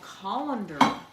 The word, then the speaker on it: colander: A calendar. A colander. Sounds like calendar.